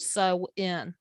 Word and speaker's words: Samhain: ancient celtic festival of sowen and it looks the way it's spelt is not the same way it's pronounced um it looks the